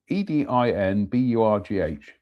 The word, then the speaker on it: Edinburgh: Uh Ed D E D I N B U R G H.